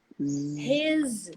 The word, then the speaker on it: his: this perfect but then the isolated verb or the non-contracted verb is pronounced like a z is he is his is I even wrote the word his here his is his is here his wife is here you know his is so little words like his the uh these is they are pronounced like a z not like an s and why what is